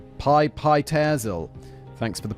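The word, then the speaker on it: Pitezel: Frank was on the trail of the three missing children of Benjamin Petzel. Pi Pyzel. Thanks for the pronunciation, guy, David.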